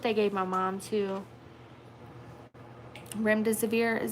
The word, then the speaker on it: Remdesivir: Remdesivir is how you say it.